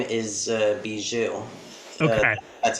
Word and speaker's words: Bijou: Well, actually, first I want to clarify, my pet's name is Bijou. Okay. That's how you pronounce it.